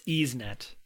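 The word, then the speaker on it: YsNet: I was thinking about how you pronounce that, but it's EaseNet.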